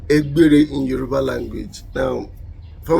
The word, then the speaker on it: Egbere: It is Egbere. The B sound that we have there is not present in any of Western language, so you'll not be able to pronounce that. So we call it Egbere, so we pronounce it.